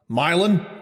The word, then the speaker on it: Milan: he was born in I think it's pronounced Milan but in Ohio it's probably pronounced milin Milan mil that sounds like how we pronounce that's definitely how it's pronounced in Ohio Harry Mosley Stevens a